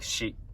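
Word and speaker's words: し: So next one is Sa, and this is Si, but we pronounce it like Shi, S-H-I, and Su, Se, So.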